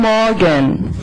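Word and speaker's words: Morgen: good news is however if you pronounce the r after a vowel so if you have o plus r you don't have to go Moran you just say Moran that's a lot easier and that's the northern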